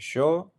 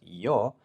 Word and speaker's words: yo: show the pronunciation iation show is for Argentina eurway some other countries whereas yo is the most accepted one so you can hear